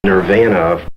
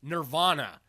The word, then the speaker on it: nirvana: goddamn time but really the nerve veña veña it's technically nirvana you're vain there is one thing I find humorous from this segment it reminds me of when the band Nirvana first came out and